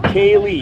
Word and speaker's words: Kaylee: It's pronounced, oh, Kaylee, yes.